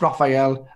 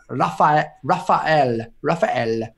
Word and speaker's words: Raphael: It's not pronounced Raphael. It's Raphael. I got wrong for saying that way.